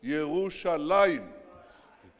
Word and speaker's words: ירושלים: It says, it doesn't say Jerusalem, it says Yerushalayim.